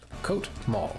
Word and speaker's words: Coatl: Coatl. So is it Coatl? Or Quaddle? Or how would you like to be pronounced? Coat Mall. Gotcha.